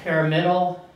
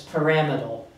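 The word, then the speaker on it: pyramidal: m i d a l and it's not pamal pamal it's paramal and you can see that pronunciation is actually given to you in your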